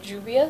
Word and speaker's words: Juvia: The Nubian by Juvia, is that how you pronounce it?